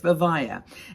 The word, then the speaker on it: Vivaia: check out their website it's vavaya and I'll put the link below and I can spell it for you because it's kind of an interesting word it's v-i-v-a-i-a vivea and uh anyway so